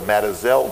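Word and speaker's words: Mazatzal: And I know that the word is spelled Mazatzel, but the old cowboys in Yavapai County over there, they pronounce that word Matazel. So I'll use the cowboy term.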